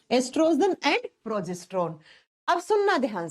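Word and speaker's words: oestrogen: एक होता है बच्चा एस्ट्रोजन, लिखा जाता है ओ से, प्रोनाउंस किया जाता है ई से, ठीक है।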